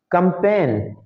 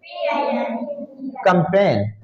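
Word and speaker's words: campaign: जैसे हाँ एक लफ्ज और भी यहाँ पर है, कंपेन, COMPAIGN, कंपेन। तो इन सब में जी क्या है? साइलेंट।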